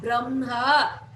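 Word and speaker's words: ब्रह्म: They alone, then this is pronounced as imha, brahma. So im is pronounced first, brahma. Janhavi.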